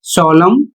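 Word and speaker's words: solemn: इसकी हिंदी होती है भजन या स्तुति गीत और अगला शब्द है एस ओ एल ई एम एन और इसे पढ़ा जाएगा सोलम इसकी हिंदी होती है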